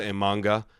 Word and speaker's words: Imanaga: And then obviously Shota Imanaga, right? I'm pretty sure. Am I pronouncing that right?